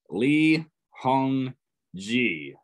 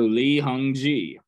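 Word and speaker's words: 이홍기: Lee Hong Ji. The G in G is pronounced like G in go. So Lee Hong Ji.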